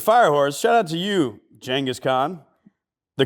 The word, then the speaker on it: Genghis Khan: Speaking of Firehorse, shout out to you, Genghis Khan. The correct way to pronounce his name.